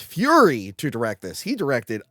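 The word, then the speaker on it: Furie: They got Sidney J, I believe it's pronounced Fury, to direct this.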